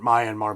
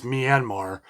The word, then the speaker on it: Myanmar: wanted to look up the pronunciation I was pronouncing it Myanmar but it's Myanmar uh and I guess since about 1990 I